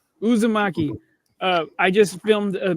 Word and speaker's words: Uzumaki: on since Krueger brought that how was it pronounced yuzaki Uzumaki Uzumaki uh I just filmed a music video for